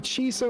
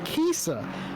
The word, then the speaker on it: Kiesa: had a man that i was calling chisa or kisa or chis chesup in the 172 racing line motorsport porsche he's actually coming to chat and he's corrected me said that his name's pronounced kisa well david kiesa i